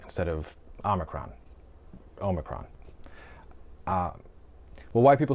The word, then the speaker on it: omicron: so many people make the mistake of saying OMNIcron instead of omicron.